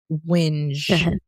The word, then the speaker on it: whinge: i n g e you know like whining whining like oh yeah it's like it's like whining whining with a G yeah English lesson for